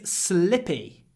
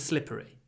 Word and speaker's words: slippery: slippy the road is slippy slippy but the correct word is slippery slippery but I guess we're lazy we drop the r and we say slippy slippy slippery also he's a